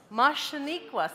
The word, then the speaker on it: Muhshaneequhs: Do you want to try to pronounce it? Mashaniquas, that's right. So Aniquas is there. There's our friend Aniquas we just learned about. And now we have Mush, Mushaniquas.